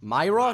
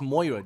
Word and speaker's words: Moira: Myra? No, it's Moira, dude. You not see the O?